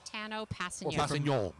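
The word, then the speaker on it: Tanoh Kpassagnon: he six7 Tano exactly Tano Pas if you want to say the the proper French pronunciation correct because he his dad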